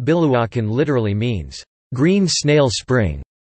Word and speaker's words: Biluochun: Biluochun Chinese, Biluochun Pinyin, Biluochun, pronounced Pi, Luo, WN is a famous green